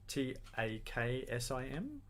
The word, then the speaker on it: taksim: planet and you know cool how do you spell that i might check that out i'll get this wrong toxin t-a-k-s-i-m i think there's possibly some kind of accent